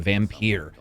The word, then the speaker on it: Vampyr: publish buy focus interactive in their game vampyre and yes it is pronounced that way because as we all